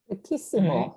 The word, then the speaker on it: riquísimo: So when we pronounce this, if you tag on the isimo after you get rid of the O, it becomes Riquísimo.